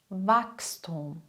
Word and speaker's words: Wachstum: Wenn nach dem CH ein S kommt, passiert etwas Wichtiges. Das CH spricht man dann nicht mehr wie gewohnt, stattdessen klingt es wie X. X. Sprich mal nach. Ochse, Wachstum, Lachs, Fuchs, wechseln, wachsen.